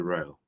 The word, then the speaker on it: Rael: it because it's not most americans add a second syllable to my name but no it's one like rail railway line rail okay right yeah rail